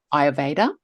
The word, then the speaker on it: Ayurveda: How do you pronounce it? Ayurveda.